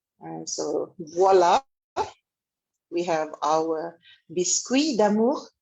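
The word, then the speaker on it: voilà: And here we have voila. Voila, by the way, is spelled Voila. The OI in French is pronounced as like with a W.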